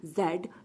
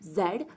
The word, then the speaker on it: Z: Okay my dear students, जेड को हम जी भी कह सकते हैं और जेड भी कह सकते हैं. यू can pronounce it जेड as well as जी.